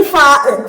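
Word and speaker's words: ف: ഇനി ഫ. ഫ എന്താണ്? താഴെ ചുണ്ട് മുകളിലെ മുൻപല്ലിൽ ചേർത്ത് വെച്ച് ഫ ഉച്ചരിക്കാം. ഫ, ഫ. പറയുമ്പോ അറിയാം നമ്മളെ താഴെ ചുണ്ട് മേലേക്ക് മുകളിലെ മുൻപല്ല് ചേർന്ന് വരും. അങ്ങനെയാണ് ഫ ഉച്ചരിക്കുന്നത്.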